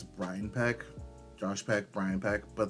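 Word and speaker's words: Peck: I just realized I think I said Brian's name wrong it's Brian peek Josh peek Brian peek but there's no relation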